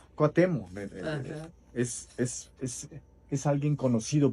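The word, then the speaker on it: Cuauhtémoc: A la manera en que la gente pronuncia, pues no no cuutemoc, sino cuatemo.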